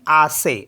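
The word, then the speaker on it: assez: से जैसे for example A एस एस ई जड तो लास्ट में ई जड आया है तो इसको हम डबल एस ई को पढ़ेंगे से तो इसको पढ़ेंगे हम आ से आ से मीस होता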